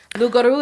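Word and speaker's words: loup-garou: You don't pronounce a consonant at the end of a word unless it's followed by an E.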